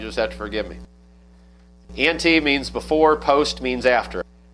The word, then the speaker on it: ante: Ante? Okay. So we'll call it ante, and if I slip up, you just have to forgive me. Ante means before, post means after.